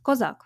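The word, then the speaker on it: козак: In Ukrainian, it is pronounced Kozak.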